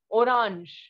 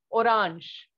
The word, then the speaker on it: orange: different and it is orange and we all know that the sound of g in french is jer right so orange in